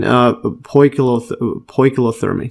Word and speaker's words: poikilotherm: Similarly, homeothermy is more costly than poikilothermy.